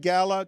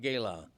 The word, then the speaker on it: Gala: The PFPI Gala, 21 years. Right. We've always pronounced it Gala, not Gala.